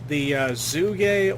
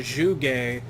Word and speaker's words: Zhuge: I'm a fan of the Zuge or the Zhuge, depending on how you want to pronounce it, but I think a primed crossbow should be something that we should get pretty soon.